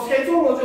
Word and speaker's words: 세종어제: 처음 보는 좀더 생종 이렇게 있는데 여기 이응은 은가가 없는 이응이기 때문에 발음을 하지 않고 그래서 세종 어제라고 읽는게 맞는 거예요.